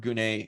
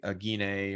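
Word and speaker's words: γυνή: There's not, it's a Greek word gune or guni, wherever you, gine or whatever it is. There's different ways of pronouncing depending on your preference. But I always use gune.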